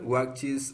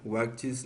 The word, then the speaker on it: watches: Cuando le agrego ES, esta E suena parecido a una I muy débil, ¿ok? Sandra watches a new film. Sandra watches a new film.